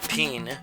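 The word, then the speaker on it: Pin: spelled b i n and the i is pronounced e in japan and then peen p-i-n is the second player of the red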